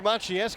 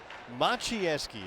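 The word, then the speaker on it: Maciejewski: Machinesi. It's spelled m a c i e j e ws ki. If you can't pronounce that, you can't figure out how you get Machi from that.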